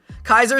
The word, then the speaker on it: Caesar: Kaiser is the proper way to say it.